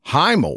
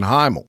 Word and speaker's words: Himl: These being responsible for the death of Captain Himl. And y'all, it's spelled H I M L, but it could be email, which is a Cajun last name here, but that's typically spelled H Y- L.